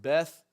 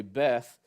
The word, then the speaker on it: Beth: it has the word Beth. They would normally actually pronounce that Bet, but we would say Beth.